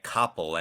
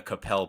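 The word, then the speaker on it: Coppell: I've made that error before, calling it Koppel, and was told this is not how you pronounce this area. So I always make sure whenever anyone's from Capel that I'm hitting and dismounting correctly on the Capel part.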